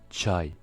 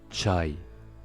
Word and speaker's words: çay: Le C cédille se prononce ch, comme dans l'exemple avec le mot çay, çay, le thé turc.